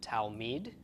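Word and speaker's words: תלמיד: D of the Dalit it's altogether pronounced towel Mead towel Mead and towel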